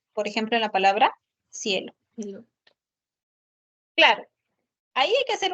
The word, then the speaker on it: cielo: gorda como la s Pero sabemos por Norma que cuando está frente a la vocal i e debe ser la fricativa interdental entonces la la pronunciación sería cielo Ya ese sonido lo